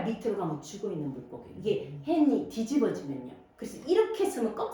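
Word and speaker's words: חן: 이 발음이 약간 목구멍 소리. 아랍어라든지 히브리어가 헨 이렇게 해야 돼. 그냥 헨 이러면 안 돼요. 헨 이래야 돼요. 뭐 가래 넣듯이.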